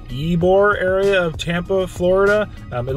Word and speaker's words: Ybor: It is in the, what they call, ybor area of Tampa, Florida. It looks like Y. It's spelled like Y-B-O-R, but it's ybor.